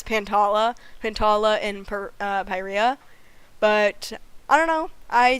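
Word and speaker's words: Pyrrhia: a planet to Earth pyra is located in Oklahoma also I've been pronouncing it's not pyra and I know it's not pyra we're talking about pronunciations earlier it's pyria but I will still always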